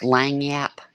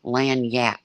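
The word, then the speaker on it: lagniappe: It's pronounced Langyap. Yeah. But it's spelled weird. Oh, yeah, exactly. I'm too old to go to the beach. No, not lanyard, lanyap.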